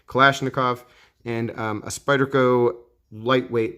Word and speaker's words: Kalashnikov: it's a boker kalashnikov i've always said kalishnikov for some reason i don't know tell me if i'm pronouncing it wrong kalashnikov and um a spyderco